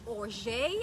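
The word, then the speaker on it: orgeat: this correctly you guys it's o'jay i think i heard it pronounced o-r-g-e-a-t syrup and it is an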